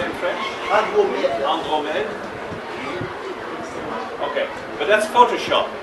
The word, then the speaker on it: Andromède: Andromède.